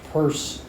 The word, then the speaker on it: Peirce: many folks here know anything at all about purse okay some okay um so so uh spelled Pierce but pronounced purse the uh founder of American pragmatism um he